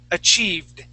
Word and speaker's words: achieved: to hit the top achieved achieved all right right not not with a t but D achieved achieved there you